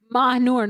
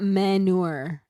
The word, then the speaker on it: Mahur: Mahur, not Manur.